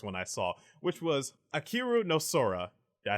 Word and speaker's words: Ahiru no Sora: The first one I saw, which was Ahiru no Sora.